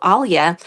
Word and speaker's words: Alia: So I just shortened my name to Alia. Although even back in my native country, people could call me Alia. We have like a little soft L sounds, and we can soften any other consonant.